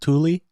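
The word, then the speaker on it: Thule: I always called it th but it's actually pronounced Tuli so I don't know well that's the name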